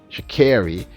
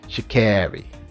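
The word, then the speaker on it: Sha'Carri: I'm repeating it because people keep telling me I'm pronouncing her name incorrectly, and I think I'm pronouncing it the way she says it, Sha Carri.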